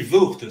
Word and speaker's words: Voogd: j'ai toujours du mal quand je vois votre nom, je ne sais pas comment le prononcer. C'est mon souci depuis la maternelle. Ça se dit Voogd, c'est d'origine hollandaise.